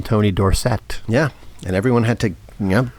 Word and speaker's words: Dorsett: I'm dating myself, but Tony Dorsett. Oh, yeah. Remember, yeah. He was Tony Dorsett in college, played for Pittsburgh, and then he went to Dallas and became Tony Dorsett.